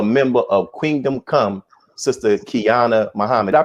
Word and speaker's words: Qiana: and also a member of Kingdom Come, Sister Qiana Muhammad. Did I pronounce that right?